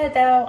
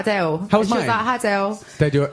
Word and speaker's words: Adele: Adele Adele okay so it's like there's a w Adele Adele say it okay so I say Adele yeah so but what the what I was reading today was that that we all say it here in America like H dash d-e-l-l uh yeah but they said she pronounces it uh Dash d-a-l-e like a Dale but it sounds like she's adding a w Adele Adele Adele yeah but it's London